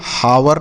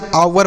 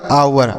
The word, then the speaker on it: hour: अगला HOUR इसे हम हावर नहीं पढ़ते हैं, यह गलत उच्चारण हो गया। तो क्या पढ़ेंगे सर? इसे हम आवर पढ़ेंगे। HOUR आवर।